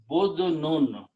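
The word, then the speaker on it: بُدْن: Okay, the if we take the same three letters and pronounce with a dhamma here. Okay, badnun.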